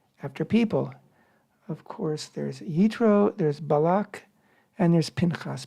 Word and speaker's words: Yitro: if anybody's not familiar yitro is the hebrew pronunciation of jethro the father-in-law of moses